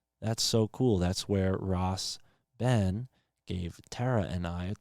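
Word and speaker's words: Rasben: i don't realize it so ross ben is short for i think rastafari ben so that would be spelled r-a-s-b-e-n ross ben and then michael juan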